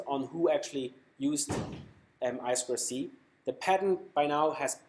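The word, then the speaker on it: I²C: i square c pronounced i square c um sometimes called i2c but less often it's really most of time i square c it's a two wire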